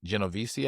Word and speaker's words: Genovese: This morning, 31 defendants were arrested in 11 states, including members of the Associates of the Bonanno, Gambino, and Genovese, I think is how you say that, organized crime families of La Cosa Nostra, or LCN.